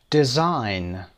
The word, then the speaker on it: design: design G رو نمیشنوید که ما بگیم که تلفظش بکنیم، بگیم design.